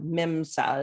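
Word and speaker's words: MMSE: MIMSA is the acronym pronunciation.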